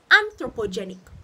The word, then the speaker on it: anthropogenic: so we're going to break up this word into syllables one two three and throw po jay nick anthropogenic so the anthropogenic causes of